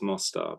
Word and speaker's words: Mostar: It's actually the Mostar, so it's pronounced Mostar, but it's a place in Yugoslavia where my